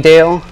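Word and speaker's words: Rijndael: Advanced encryption standard and sometimes it's also called the Rell I don't know how to pronoun if I'm pronouncing that right what is it R ryale okay um and it is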